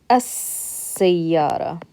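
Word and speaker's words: السيارة: do we say us it will say us because seeing here after the LF LOM is half M see that's why there's a shudder here so that means what we're gonna do is we're gonna pronounce the scene we're gonna skip this lamb and we're gonna pronounce the scene so it becomes sa yatta right now when you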